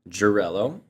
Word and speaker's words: Gerylo: Gerylo.